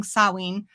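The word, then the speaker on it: Samhain: in the early days also bless him for pronouncing sawi uh correctly unlike Lumis uh but in the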